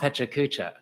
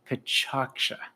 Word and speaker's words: PechaKucha: It's not Pechakucha. That's what I've been saying. I just found out today it's actually Pachaksha.